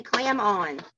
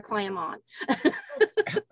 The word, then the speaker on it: Clamon: different we just say clam on well that's a good way good way to remember if you can remember that clap on clap off commercials you can remember clam on that's a good analogy